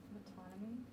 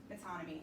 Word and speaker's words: metonymy: Metonymy. Yeah, you're exactly right. Metonymy.